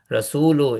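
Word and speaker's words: رسولُ: It means Rasulu is light. There is no noon sound at the end.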